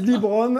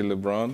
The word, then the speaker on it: LeBron: prononciation du prénom de parce que ici a qui disent Libron et apparemment c'est pareil comment on dit toi qui côyé un peu les US personnellement j'aurais dit LeBron ok bravo g chaque